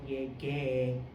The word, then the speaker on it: llegué: So in order to say it right, same thing, G becomes GU, because just like the the rule is used before E's and I's are silent, unless it has the two dots.